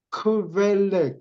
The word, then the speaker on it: Quelle: 독일어로 크벨레, QVELLE, QUELLE, 크벨레. 이게 독일어인데 이게 독일어로 무슨 뜻이냐? 유가 미 발음이 나는가?